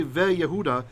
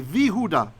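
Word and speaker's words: ויהודה: So when we want to say and Judah, we don't say ve Yehuda, we say Vihuda.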